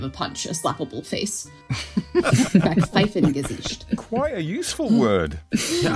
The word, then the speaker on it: Backpfeifengesicht: But I'm going to try to say this right. Backpfeifengesicht, I believe is how you say it. And it means a face in need of a punch, a slappable face. Backpfeifengesicht.